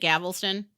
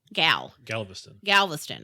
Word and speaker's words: Galveston: We've cruised out of Miami, Galveston, which I never pronounced right in our 8 years together. Is it Galveston? No, Galveston.